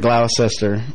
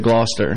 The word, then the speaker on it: Gloucester: I'm originally from Gloucester, Virginia. Okay, now, I heard some people pronounce it Gloucester. Is that accurate? Yeah, the English pronounce it Gloucester. But we redneck Americans pronounce it Gloucester.